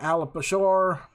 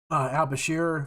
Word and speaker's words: al-Bashir: oh I didn't think I was going to pronounce that right uh referring to Omar al-bashore al-Bashir former president of Sudan and Muammar Al uh